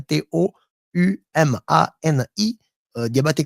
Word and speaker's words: Toumani Diabaté: Ça s'écrit Toumani comme Toumani en français, T-O-U-M-A-N-I, Diabaté comme Diabaté.